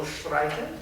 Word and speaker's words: streiten: Yeah, and you properly did the thing of not emphasizing the final syllable, Streiten.